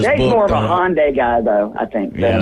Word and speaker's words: Hyundai: He was from Korea, and he said it was Hyundai. That's how you're supposed to say it.